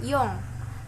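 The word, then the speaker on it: 四: Nah, 4 di atas puluhan itu dibacanya yong. Jadi 4 di atas 10 itu yong, 7 di atas 10 itu nana.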